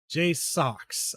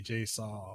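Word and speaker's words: JSAUX: I know that Jay Socks. I had to remember how to pronounce their name because they get really irritated when you say Jay Saw or Swee.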